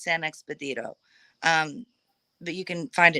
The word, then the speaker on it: San Expedito: So do a little bit of research, not a lot, on Saint Expedito, but it's pronounced San Expedito.